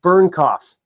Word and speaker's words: Bernknopf: Another Planet, or is it Alaska, by David Bernknopf.